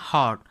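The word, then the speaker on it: heart: में हम इसे आर को साइलेंट रखते हैं, तो इसे हम पढ़ते हैं हार्ट, ठीक है।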